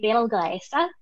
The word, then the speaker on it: Betelgeuse: And if you pronounce this using the Arabic pronunciation, it'll be Betelgeuse instead of Betelgeuse.